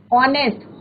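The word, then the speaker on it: honest: Honourable, ऑनेस्ट, हॉनेस्ट नहीं बोलते, कई बच्चे क्या बोलते हैं, हॉनेस्ट, बट इट इज नॉट हॉनेस्ट, इट इज ऑनेस्ट, right.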